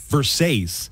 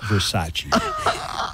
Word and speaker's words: Versace: Do you remember in Showgirls, Elizabeth Berkley kept saying Versace, and everybody would laugh at her, but nobody would tell her. It took Kyle MacLachlan to eventually go, it's pronounced Versace.